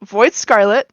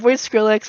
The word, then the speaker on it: Void Scarlet: in a second uh pronounced void Scarlet not void scrx void skret nothing void Scarlet um yeah came on